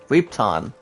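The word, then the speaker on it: Repton: to travel to ripton ripton this is pronounced as rep t-o-n i'm gonna get it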